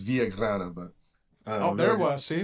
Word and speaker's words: Villagrana: And Frank, if I say it wrong, is it Villagrana? Yeah, Villagrana works. Because you're a big dude. I don't want to say it wrong. I imagine the last person that said it wrong, they can't find him. He's a mile high, buried somewhere. Yeah. You'd be surprised how many people, it's exactly like it's spelled, but it's all good.